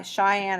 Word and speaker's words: Cheyenne: why is she shy cheyenne is actually spelled with a ch why is she shy